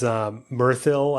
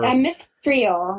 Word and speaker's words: Mithril: I think the piece that I was alluding to, I think was the metal is Mirthil, I believe, is the super Mithril. Mithril. Did I pronounce?